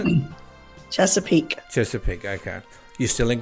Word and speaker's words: Chesapeake: Chesapeake.